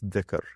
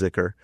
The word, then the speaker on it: dhikr: it's all oriented towards dhikr, or sometimes that's pronounced zikr, and that is the remembrance of God, the remembrance of the real.